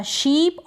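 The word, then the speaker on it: ship: बोला जा रहा है, शिप और पी का प। यहाँ पे हमने इसको पढ़ा था शीप और यह है शिप, दोनों का उच्चारण डिफरेंट है और मीन भी अलग है।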